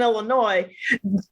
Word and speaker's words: Illinois: in California than in Illinois or some people would say Illinois which I want to hurt them right when they do Illinois right I don't know that that s is silent forever and always I'm forever and always